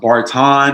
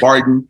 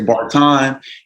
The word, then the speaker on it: Barton: It's pronounced Barton. Everybody says Barton. It's Barton. And yes, you know, we're about to make it happen.